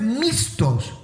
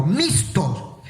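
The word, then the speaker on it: μισθός: Ahora, en griego, la palabra salario es mistos. Yo lo estoy pronunciando de acuerdo a cómo está escrito, mistos.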